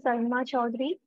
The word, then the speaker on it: Arunima Chaudhuri: And if correct my pronunciation, please. No, it's absolutely correct. Hello, everyone. My name is Arunima Chaudhary.